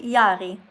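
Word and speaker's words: Jarie: Uh, Yari. Oh, how do you spell that? J Yeah. A Yeah. R Mhm. I E But yeah, so it's like Jerry, but it's pronounced Yari. Yeah. Yari.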